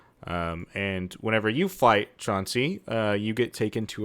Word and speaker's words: Chauncey: next so this is It's not chancy like how do you pronounce that is it Chauncey I don't know yes it is a u yeah I'm sure it's Chauncey okay um so he